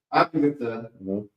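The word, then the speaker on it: Abagtha: Abagatha.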